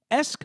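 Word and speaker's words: -esque: Esk means in the style of or resembling. Based on both its pronunciation and its meaning, it's not hard to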